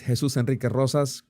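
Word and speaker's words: Jesús Enrique Rosas: And the way to pronounce my name and not be afraid of the R's, of rolling the R's, is to pretend that the R's do not exist.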